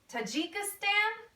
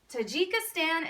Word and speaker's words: Tajikistan: like crazy names I'll tell you how to pronounce them Kazakhstan Uzbekistan Turkmenistan Tajikistan and Kyrgyzstan all right I'm gonna need you